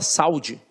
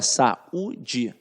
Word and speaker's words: saúde: a sua sílaba e na própria pronúncia você fala sai da você fala saúde não você fala Sá ida e você fala Sá udi porque porque esta vogal fica isolada você fala Sá e